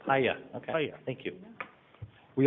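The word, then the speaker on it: Puye: Return to Paya, I was told. Hiya.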